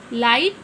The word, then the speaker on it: light: Light, G silent है.